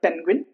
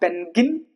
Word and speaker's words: penguin: Penguin. It's not penguin, but penguin. Penguin. Quinn. Quinn. You see? Can you Can you hear Quinn? Quinn. Not pengin. Gin and Gwin.